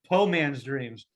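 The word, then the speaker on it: Poe Man's Dreams: paul man's dreams yeah po man's dreams um because of the edgar allan poe and then the southern pronunciation of port like that whole yeah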